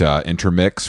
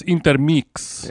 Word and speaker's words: Intermix: I haven't had time to kind of hit intermix for all my necessities. It's pronounced intermix.